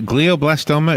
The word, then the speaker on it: glioblastoma: life senator Kennedy had something called as a glioblastoma is that correct that the pronunciation what is that yes so blahblah storm